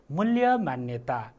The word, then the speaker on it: मूल्य मान्यता: ल हेर्नुहोस् है, यहाँ दुईतिर उच्चारण भइरहेको छ है। मूल यहाँ ल छ, ल्य फेरि ल छ, मान यहाँ पनि न छ, न्य फेरि न छ, ता। ल हेर्नुहोस् त उच्चारण गर्दाखेरि।